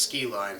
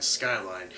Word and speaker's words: Skyline: ranks to it it's it's not pronounced ski line Skyline and then it's about